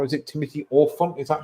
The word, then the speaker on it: Olyphant: Timothy Olyphant? Is that how you say his name? Oliphant. Like elephant.